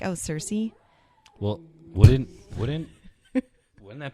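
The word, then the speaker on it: Circe: the book is c-i-r-c-e so like how do you say that cersei's i don't know why you put a c an s on the end of it but apparently it's cersei cersei yeah so you're right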